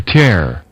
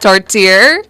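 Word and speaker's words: tourtière: them just a torer can we have the pronunciation again please torer torer all right yeah it really don't have they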